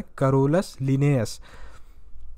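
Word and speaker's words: Carolus Linnaeus: कर लिया, कैरोलस लिनियस, सही उच्चारण है कैरोलस लिनियस।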